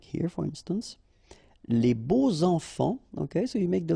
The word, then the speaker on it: les beaux enfants: And here it's quite interesting because even if you've got this X, well, phonetically it will be like Z, so like if it would be an S, okay?